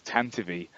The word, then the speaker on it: Tantive: And he goes, that's right, the official pronunciation of it is Tantive.